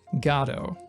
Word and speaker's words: Godot: I pronounce it Godot, and I'm right. I promise you I'm right. The reality is it's dependent upon where you are, what language you speak, your culture, basically how you treat vowels, I guess.